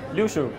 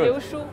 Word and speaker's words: Liu Shu: Did I pronounce it good? Yeah. Liu Shu. Yeah, Liu Shu.